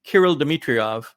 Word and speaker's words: Kirill Dmitriev: What a number of folks questioned, the gentleman from Russia is, I believe, pronounced Kirill Dmitriev, and he's a special envoy.